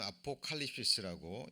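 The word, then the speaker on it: ἀποκάλυψις: 자, 원어로는 아포칼립시스라고 읽는데요, 폭로라는 단어입니다.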